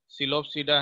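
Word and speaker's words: Psilopsida: पहला जो क्लास का नाम क्या है, सिलोप्सीडा है, पी साइलेंट रखते हैं, सिलोप्सीडा।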